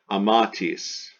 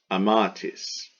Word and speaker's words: amatis: Number four, amatis, amatis, accent on the second A, amatis before the tis.